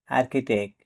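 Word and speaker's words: architect: মানে রাসায়নিক এখানেও এর পর এইচ লেটার দি সাইলেন্ট থাকবে এ আর সিচ আই টিই সিটি আর্কিটেক্ট মানে স্থাপতি এখানে সি এর পর এইচ লেটার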